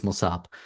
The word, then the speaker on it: Mosab: I'm even confused but it ends with a B it's mosab uh so uh make